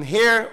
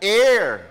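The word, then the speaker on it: heir: a son then an hair of God through Christ ano tayo tagapagmana Nino tayo ha Tama ba yung pronunciation ko ha Ano ba talaga hair air air ah air without h air basta tagapagmana na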